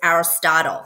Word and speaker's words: Aristotle: you is this man philosopher his name is Aristotle that's how you would pronounce that and he was a Greek philosopher